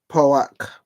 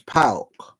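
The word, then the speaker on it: PAOK: Poak. 1. How do you say it? No, it's Pauk.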